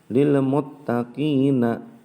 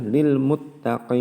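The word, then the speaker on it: لِلْمُتَّقِينَ: lemot HP ini maka tidak boleh kita baca lilmuttaqiina tidak boleh maka kita Bacanya adalah lilmutaqin ingin itu disebut dengan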